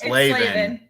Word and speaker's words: Slevin: It's Slevin. Slaving away.